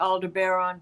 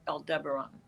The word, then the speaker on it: Aldebaran: Some people do say Alderon, but for the most part it's called El Deberon.